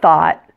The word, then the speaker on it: thought: The word thought rhymes with the word hot. That's easy, isn't it? Most languages have this vowel sound. Just open your mouth completely, pull your tongue a little bit back like this, and say ah, ah.